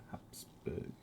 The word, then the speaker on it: Habsburg: That's the English pronunciation. It's Habsburg.